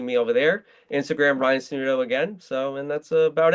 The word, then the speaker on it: Sanudo: So you guys can find me on my Twitter, Sanudo. It's not the easiest name to pronounce, to spell, but it's SANUDO underscore, and that's on X, Sanudo underscore.